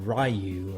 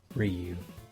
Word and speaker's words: Ryu: Dragon Sword is defeated kin's son Ryu or youu or rayu or however you pronounce it I'm going with rayu I like rayu but I'm pretty sure it's like Ryu anyways kin's son rayu